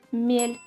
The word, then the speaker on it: мель: However, if the consonant is softened, as in the word «мель», it becomes a completely different word that means «shallow».